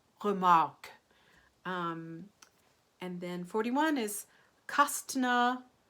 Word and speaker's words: Remarque: is epic mafia Lamacq or just if you wanted to use the flipped are remark that same kind of uvular R or schwa with our coloring in the second syllable but a mark it's almost like you're saying ah oke oke remark Erich Maria Remarque and then 41 is